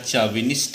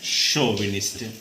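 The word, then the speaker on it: chauvinist: Pronunciation देख लेना, नहीं तो यहाँ चाविनिस्ट ऐसा कुछ ना लगाने लगना कि सी एस से चा बनाते हैं, शोविनिस्ट।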